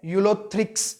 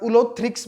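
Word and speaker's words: Ulothrix: उसके बाद है यूलोथ्रिक्स, या उलोथ्रिक्स भी बोल सकते हो आप इसे, यूलोथ्रिक्स बोलो या उलोथ्रिक्स बोलो, कोई प्रॉब्लम नहीं।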